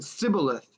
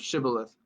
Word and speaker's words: shibboleth: and he said shibboleth for he could not pronounce it right oh he said sybileth instead of shibboleth ooh because he could not pronounce it right